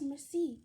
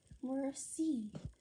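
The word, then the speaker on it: Merci: thank you and French it's Mercy you say it you say it like this Mercy you say it like this Mercy that evening I tell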